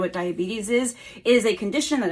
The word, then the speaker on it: diabetes: also adorable as well but it's diabetes not diabetes okay all right we